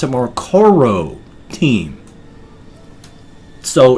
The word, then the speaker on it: Croteam: they pronounced a more Koro team so it's like core o team but the first leg